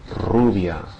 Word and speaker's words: rubia: Now let's start with the beginning, because at the beginning of words it has the same pronunciation as the double R. In other words, that multiple trill, right? The rolled R sound. Rio, rancho, rubia.